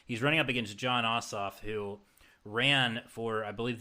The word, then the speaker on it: Ossoff: Ossoff. Like vote your ass off.